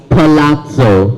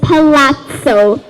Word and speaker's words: palazzo: try to spell the word this word is pronounced as Palazzo I think let's do this word with the